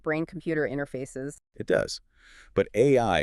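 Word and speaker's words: 愛: But AI is also the phonetic pronunciation of the Japanese word for love.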